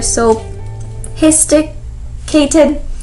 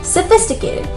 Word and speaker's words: sophisticated: sophisticated sophistic k tip many people hear maybe balbe sophisticated or so histicated because soap histicated but the ph actually makes a sound like an f so sophisticated then maybe you might